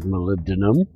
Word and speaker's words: molybdenum: many people tell me how to pronounce Malibu D Miam - which is molybdenum fuck that she is